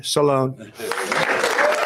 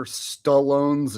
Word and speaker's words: Stallone: Sylvester Sly Salone. Sly. Okay. Um, am I going to be the one that has to point out that he just mispronounced Sylvester Stallone's name?